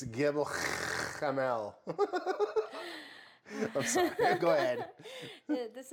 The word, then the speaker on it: Gebel Kamil: It's Gebel Kamil.